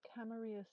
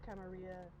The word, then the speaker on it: Camarilla: By the way, the people in the game are going to pronounce Camarilla Camarilla. But I'm from California, where we have a high Spanish speaking population, and therefore I'm exposed to uh, the pardon me, the double L as a, yeah, sound. So that's what I am used to saying.